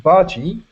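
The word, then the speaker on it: bhaji: So, uh in this case it was saying uh onion bargi. Um it rhymes with sargi which is short for sergeant.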